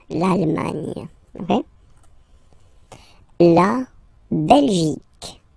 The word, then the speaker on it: Belgique: La Belgique. Okay, remember, Q, U, E here. You will get only the sound okay, Belgique, Belgique, so it's not Belgique, not at all, okay, because it's only the K, K, Belgique, okay.